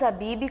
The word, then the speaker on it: Abib: Jorge Habib Mas acredite a pronúncia correta não é abbe é AB né É bem mudo né da família AB Abib como conhecemos nasceu